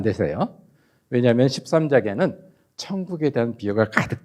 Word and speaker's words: 천국: 대한 설교 말씀이 있어요 13장은 발음을 정정확하게 하셔야 돼요 천국 장이에요 뭐라고 발했어요 제가 정확 하셔야 돼요 이응이 아니고 니은 니은 천국인데 어떤 분은 거기다면서 왕교